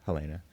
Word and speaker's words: Helena: you tell me how how do you pronounce your name in the true Swedish Helena hel is my I pronounce it in Swedish yes we wouldn't have gotten